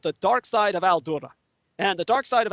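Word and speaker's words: Al-Doura: There's a documentary called The Dark Side of Al-Dura. And the dark side of Al-Dura, Al-Dura is an Arabic word. It's spelled in the English phoneticization A-L-D-O-U-R-A. A-L-D-O-U-R-A.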